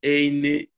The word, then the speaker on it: ein: Ist das ein Joghurt?